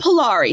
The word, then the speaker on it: Polari: Polari. It's called Polari. So it's Polari. It's also, let me find my notes. Like it's spelled a couple different ways.